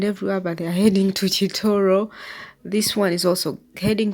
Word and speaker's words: Kitooro: road leads to Kor so choro as the locals say or even me that is what I call it it is choro but you say you can say Koro so those taxes are